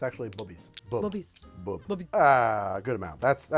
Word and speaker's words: Bubbies: Bubbies.